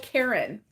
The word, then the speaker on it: Caron: a hundred percent oh Karen um he's like you know people pronounce it Caron or Caron or something like that but it's Karen like the girl's name so Karen simply soft